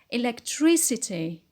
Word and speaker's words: electricity: anti-pinot next word is electric electric and when we added the et it becomes electricity electricity on the antepenult as usual next word is fluid